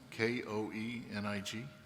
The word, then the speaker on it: Koenig: well thank you um I I pronounce it kanik but my son pronounces it Koenig so we'll go either way thank you very much